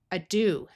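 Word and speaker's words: ado: And this o is going to use its ooh sound, a do.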